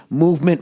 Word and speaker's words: MVMT: more to go oh mvmt movement watches pronounced movement was founded on the